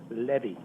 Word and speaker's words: Levy: name is Dr Levy l v y it's pronounced Levy like Chevy or took my Chevy